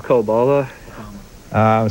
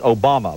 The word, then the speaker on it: Obama: Senate candidate from Illinois Barac obala sorry you said it wrong that they were trying to give it to you right but you didn't come at it with me it's Obama Barack Obama is what I